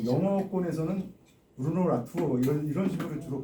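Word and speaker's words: Latour: 그래서 우리말로 표기하기가 참 힘든데 그냥 라투 라투에 가깝다고 얘기하 제가 들었는데요.에 에 우리나라 이제 프랑스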